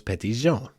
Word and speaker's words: Petit Jean: certain idea doesn't it clearly how it was pronounced in the 1820s was petty Jean the J the heart yeah so we know